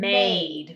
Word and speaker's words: made: That E is still small because the E is silent.